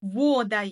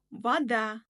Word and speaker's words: вода: Ал егер о әрпіне ударение түспесе, онда оны а деп айтамыз. Яғни, вода емес, вода.